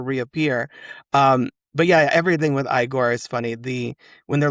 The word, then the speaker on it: Igor: the pronunciation, and he says his name is pronounced Igor. And so, he just Frankenstein Frankenstein just sticks with that the whole movie. And he's like, "It's actually pronounced Igor."